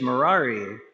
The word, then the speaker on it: Murari: So whenever he met someone for the first time, he always said, "Hi, my name is Murari. It rhymes with Ferrari."